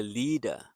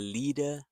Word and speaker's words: lead: So here the word rhymes with red.